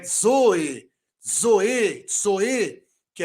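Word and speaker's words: ζωή: dez por exemplo na palavra vida que é Zoe Zoe Zoe que é vida depois do Zeta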